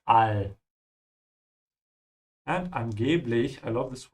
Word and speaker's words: Weltall: Be careful with the pronunciation of all. Yeah, keep your mouth open. This is not all, it's all.